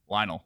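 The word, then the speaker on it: Lynel: horse thing that's very difficult how do you pronounce it Lionel Lionel okay and I would always quit the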